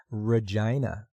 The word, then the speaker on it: Regina: with me sasketchewan and the capital of Saskatchewan Regina rhymes with fun if you know what I mean